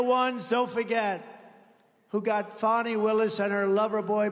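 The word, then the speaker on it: Fani: been destroyed because of Fonnie, F-A-N-I, Fonnie. You have to pronounce it Fonnie. It's called Fanny. You have to pronounce Fonnie. I don't know how she gets. She should add a little U in there someplace if she wants people to call her.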